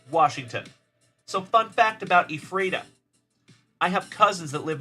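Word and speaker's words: Ephrata: in the chat it is spelled e p h r a t a t a e frea so my cousin's on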